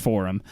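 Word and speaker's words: 4Him: no space capital h-i-m like a forum for forum yeah I guess it's pronounced forum the song called the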